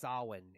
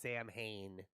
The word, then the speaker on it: Samhain: writing on the wall it's actually pronounced sawin it's not pronounced samhain i always thought it was pronounced sam hey i thought he was